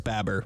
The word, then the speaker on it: Baber: unsavory roman i see i don't even know how to say his last name baber babber it is babber babber that's how he